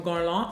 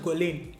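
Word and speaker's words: Guerlain: have here is from gone long if you think you don't know this brand you know it's i used to pronounce it goley before i knew better french words stress me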